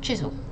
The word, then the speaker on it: chisel: Next one, we have chisel. Next is the C and the H. Rather than compared to the first two, it's more like a ch sound, like when you sneeze, or I don't know, ch.